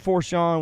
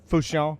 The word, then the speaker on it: Fourchon: Port Fourchon, which is actually the Fouchon.